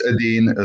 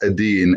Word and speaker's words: Edine: So it looks like Eden, but it's pronounced Edine, and I know that can be tricky, especially if your primary language is English. I'm Bosnian, so we pronounce our E's as E.